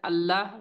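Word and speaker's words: الله: तो उसके बाद लाम का देखिए, लाम, द लाम इन the word अल्लाह will be pronounced with तफखीम if it is preceded by a letter with फतह और जम्मा।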